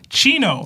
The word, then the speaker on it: Chino: It says, Seb, you always pronounce my name wrong. It's actually pronounced Chino.